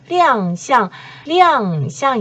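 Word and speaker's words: 亮相: 面 전체 빙상이 성공적으로 亮相 이에요. 쌍이 원래는 후쌍이라고 할 땐 일성이지만 모습, 모양 이런 표현을 할 때는 사성으로 발음이 됩니다.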